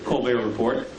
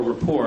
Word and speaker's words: Report: frequent guest on the co report but uh or Rapport I guess is the proper pronunciation uh we're delighted that